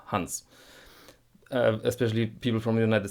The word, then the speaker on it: Hans: And by the way, this German name, Hans. Especially people from the United States, they call it Hans. It's not Hans, it's Hans. Keep it short, Hans.